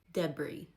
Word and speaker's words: Deborah: Debris instead of Deborah.